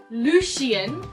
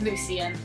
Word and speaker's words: Lucien: whole time yeah well that happened with Lucian for me it was Lucien I'm sorry so I'm